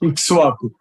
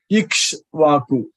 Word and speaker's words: Ikshvaku: Ikshvaku. How do you spell it? Guruji, just spell it. Ikshvaku. IKSHVAKU.